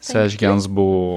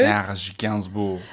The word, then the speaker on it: Serge Gainsbourg: And you can pronounce this? Serge Gainsbourg. Very good. Serge Gainsbourg.